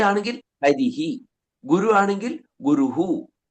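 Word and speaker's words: ഹരിഃ: സ്വരത്തിന്റെ ചായയില അകാരമാണെങ്കിൽ ബാലഹ രാമഹ രാമഹ ഇ ആണെങ്കിൽ ഹരിഹി ഗുരു ആണെങ്കിൽ ഗുരുഹു ഔ ആണെങ്കിൽ ഹു എന്നാണ് വരുക ഗൗഹു മനസിലായോ ഗോഹോ അങ്ങനെയാണ് അവിടെ ഉച്ചാരണം വാസ്തവത്തിൽ അതിന് മൂന്നിലും എന്തുണ്ട് വിസർഗം ഉണ്ട് പലപ്പോഴും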